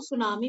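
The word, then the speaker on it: tsunami: एन ई हरीिकन जिसको सुनामी भी बोलते हैं और सुनामी की स्पेलिंग टी से शुरू होता है ठीक है टी साइलेंट है इसमें सुनामी या हरीिकन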